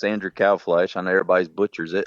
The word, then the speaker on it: Kalbfleisch: I always explain to people, if you say like a cow with a B at the end and a fly on the wall with a sh, it's a Kalbfleisch is how you say it.